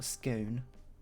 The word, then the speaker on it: scone: Does scone rhyme with gone or bone? Gone. Or scone, as other people might pronounce it.